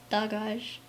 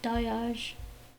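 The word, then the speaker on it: Dagaz: um it's really pronounced dogage but in our western you know pronounce it pronunciation i i tend to pronounce it dayage uh without that hard hard g uh so dayage is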